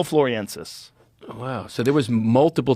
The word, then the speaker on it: floresiensis: of Flores timeline um homo floriensis fluoresis that's how you say it floor so essentially loriensis floriensis homo floriensis wow so there was